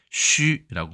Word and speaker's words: 須: 발음은 쉬라고 발음을 합니다. 발음이 어렵죠. 쉬 이렇게.